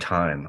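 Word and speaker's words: Thieme: in the UK um his name is Richard time and it's spelled t-h-i-e-m-e and he he writes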